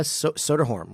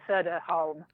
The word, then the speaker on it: Soderholm: Welcome, and it's pronounced Soderholm, right? Is that I say your name correctly? Soderholm. Yes, Soderholm.